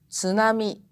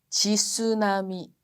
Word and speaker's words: tsunami: mesma coisa digo com tsunami né aquele onda gigante que causa destruições esse não é tsunami é tsunami é isso tem que ser pronunciado em uma leva S não é e uma sílaba única acho que cabe naquela